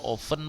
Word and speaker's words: often: tidak my friend Moscow often bacanya Boleh oven boleh-boleh often ya datanya boleh ada oven dan tanpa tuh juga boleh ya oke nah Friends